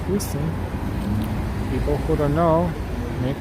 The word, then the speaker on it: Houston: It's funny, it's spelled exactly the same as Houston, or the city of Houston, and they say Houston, and the street, this one here, Houston, and they say Houston, they don't say Houston.